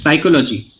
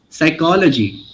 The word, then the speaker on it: psychology: Likewise, when you get words which end at le o g y like you said psy psychology. Okay. So what you are saying is psychology which is wrong. The right pronunciation is psychology.